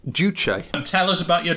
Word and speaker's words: Juche: it reliably informed that it is pronounced Josh well we know how reliable those are the documentary research that I've done has it pronounced duche and tell us about your documentary research mr.